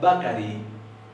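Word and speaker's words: bakarí: Y esto se pronuncia bakari y significa panadería.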